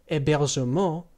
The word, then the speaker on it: hébergement: For example, le plus hébergement, spelled H-E-acute-B-E-R-G-E-M-E-N-T, becomes l'hébergement, L apostrophe H-E-acute-B-E-R-G-E-M-E-N-T, meaning the accommodation.